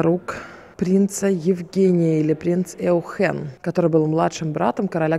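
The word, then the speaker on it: Eugène: люблю двух Евгениев – Эухен Янсон и принц Эухен, то есть Евгений Янсон и… Или Эужен, наверное, правильно говорить. Эужен Янсен и принц Эужен.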